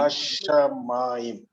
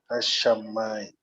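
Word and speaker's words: הַשָּׁמַיִם: Watch this doubling dagesh, because whenever there is a doubling dagesh, then the first consonant will receive a silent shiva.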